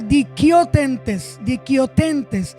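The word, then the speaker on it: δικαιωθέντες: La palabra en griego para justificación es dikaiotentes, que se pronuncia dikiotentes, que quiere decir un legítimo favor para el hombre.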